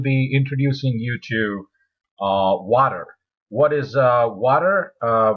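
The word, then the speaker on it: Watir: spelled as w a t r um is pronounced as water um I now um now it's basically uh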